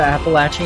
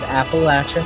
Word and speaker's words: Appalachia: It is named after the Appalachian Indian tribe. It is Appalachia, not Appalachia. Not any other pronunciation that you may have heard.